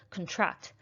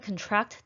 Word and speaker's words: contract: new apartment contract contract that is the verb stressed stressing the second syllable contract people can contract diseases in foreign countries